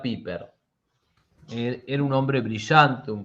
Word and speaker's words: Pieper: Se escribe Pieper, se Pieper. pronuncia Piper.